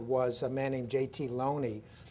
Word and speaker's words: Looney: earl of oxford was a man named jt loney spelled and often mispronounced looney by shakespeareans who don't want to take these